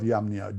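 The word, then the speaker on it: Jamnia: century of our era in the Council of yamnia j-a-m-n-i-a-dj is pronounced like Hawaii and Paul mentioned this um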